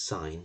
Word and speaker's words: sine: and we'll use this I've pronounced its sign but spelled it sin It's The Sign rule